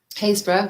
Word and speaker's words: Happisburgh: So Happisburgh, well pronounced, not spelled that way.